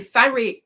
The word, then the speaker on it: Faria: Terrie says it rhymes with Maria. Okay, Faria. Terrie Faria.